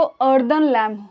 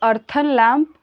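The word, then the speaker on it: earthen lamp: पता होगा दिया, उसको अर्दन लैम्प होता है. अब इसको कोई अर्थन लैम्प पता नहीं, पर इसको अर्दन लैम्प पढ़ा जाता है, दिया.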